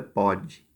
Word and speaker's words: pode: O primeiro é pôde, o O é fechado, e o segundo é pode.